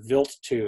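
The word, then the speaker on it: Wild 2: One is the Stardust mission, which went to a comet whose actually is pronounced Vilt-2.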